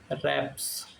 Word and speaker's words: wraps: अगला है keep something under wraps, रैप्स, W silent हो जाए तो रैप्स पढ़ेंगे ना।